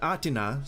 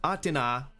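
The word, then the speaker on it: Athena: Three of the invited guests, goddesses, Aina, Atina, sorry, that's how you pronounce her name. Atina, Hera, and Aphroditi, each claimed the apple for themselves and started fighting and throwing food around.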